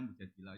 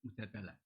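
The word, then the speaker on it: Mujadilah: Makanya di Quran ada surat mudadilah yang benar itu bacanya mudadilah yang level A tapi umumnya orang baca apa? Mujadalah itu karena ceritanya itu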